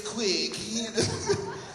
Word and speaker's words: Quick: Quick, Q-U-I-C-K, just like it's spelled, man.